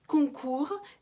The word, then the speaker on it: concours: Видим, что ю читается как concours, с на конце не читается.